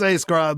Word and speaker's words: A+ Scribe: Scribe or is it A Scribe? I've never known how to say it. It's A Scribe. Like my tagline is A Scribe, the plus sign is silent.